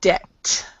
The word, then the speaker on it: debt: silent so so it's debt or debtors so you never say the b or the p before a t okay um okay are